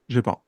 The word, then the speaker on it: GEPAN: How do you say it? GEPAN or JEPAN? Yeah, Japan.